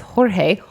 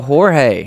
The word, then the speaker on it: Jorge: not as good as he does, but it's Jorge.